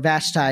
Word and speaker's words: Vashti: as well and so queen bashti or vastai as it sometimes pronounced but Queen vashti was the queen of